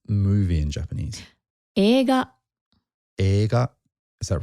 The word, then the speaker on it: 映画: How do you pronounce movie in Japanese? 映画. 映画.